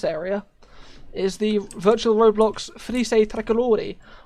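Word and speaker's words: Frecce Tricolori: is the virtual roblox felice tricolori i don't know if i'm pronouncing that correctly is italian frise that's correct um it's the um italian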